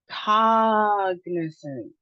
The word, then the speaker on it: cognizant: All right, the next word we have is three syllables. The emphasis is on the first syllable with the aw sound, caw. Caw and our schwa sound. So, let's try it. Emphasis on the first syllable. Cognizant.